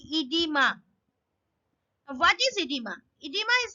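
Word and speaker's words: oedema: a disease that is edema spelling is o e g e m a but remember this pronunciation will be edema what is edema edema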